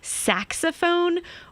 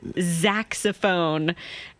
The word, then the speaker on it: saxophone: how you feel though I spent my whole life thinking saxophone was Zach's ofone and my husband corrected me